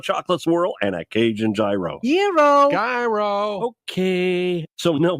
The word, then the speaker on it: gyro: So here I am in line at Papa Gyro's. I order the Gyro Supreme. Suddenly, the lady behind me chimes in. It's pronounced gyro. Then the fella behind her says, It's a gyro.